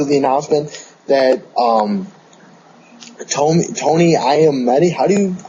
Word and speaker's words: Iommi: The production for this album was actually postponed recently because of the announcement that Tony Iommi, I'm always messed up with his last name. Yeah, that's how you say it.